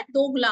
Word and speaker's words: Douglas: एस इसमें silent रहेगा, तभी मैंने बोला दोगला, है ना।